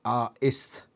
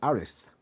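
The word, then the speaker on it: Aristh: not too sure anymore honestly arist so it's pronounced are east aries okay a warrior cadet i usually pronounce it artists but artists okay i've learned some i've learned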